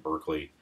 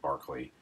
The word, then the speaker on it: Berkeley: spelled Berkeley like in Berkeley California and it is and it's not pronounced like Berkeley it's pronounced like Berkeley like a dog barking Berkeley sorry that's philosophy